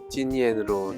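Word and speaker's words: 金焰: 김덕린이 김염, 중국식 발음으로는 찐이엔으로 탄생하는 것입니다.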